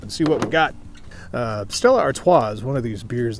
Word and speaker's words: Stella Artois: Up this round is Stella Artois, or if you want to pronounce it correctly, Stella Artois.